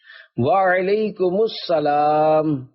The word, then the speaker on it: وعلیکم السلام: جواب سناتا ہوں، پھر آپ اس کو دہرائیے۔ وعلیکم السلام، رضائے حق کے لیے تم سلام عام کرو،